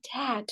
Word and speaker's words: debt: Nah, Pak Al-Kausar ya bacanya dad. B-nya nggak kita baca ya. Bukan dep, bukan dep, bukan deep, dad ya.